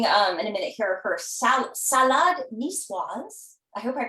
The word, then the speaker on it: salade niçoise: Well, we're going to start making in a minute here her salade niçoise. I hope I pronounced that Wonderful.